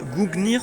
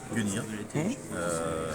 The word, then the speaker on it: Gungnir: Et alors Dan, notamment tu as 2 livres sur, alors je le prononce peut-être mal, Gungnir, c'est ça? Gungnir, ouais.